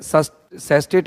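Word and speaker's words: sestet: देखो यहां पर अपन कहें कि दो जैसे सैस्टेट है ये एक मिनट इसका सही कर देता हूं spelling S एस टी ई टी सेस्टेट सेस्टेट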